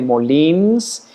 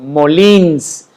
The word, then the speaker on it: Molins: pronuncia bien mi apellido, Molins. No tiene apellido en la I, pero se le pone el acento en el tono en la I, porque pues así se dice, Molins, porque es catalán y como mi querido